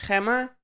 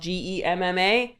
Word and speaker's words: Gemma: Like the Dutch Hemma, but it's spelled Gem Ma. And my mom was like, "No, the Americans are going to call her Gemma."